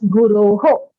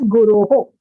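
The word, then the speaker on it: गुरो: So since you took a long pause at Shishurasmi Guru, then you rather pronounce it as Guroho. Okay. If your intention is to take a slightly longer pause, because of even convenience of taking a breath, then you rather consciously pronounce that visarga as Guroho.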